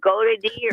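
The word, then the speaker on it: Goedeke: Go to D. Get That's how you say that. Luke Getty.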